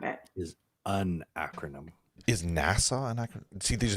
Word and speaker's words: NASA: to the department name it is pronounced as the word NASA and not by spelling out the letters right well yikes okay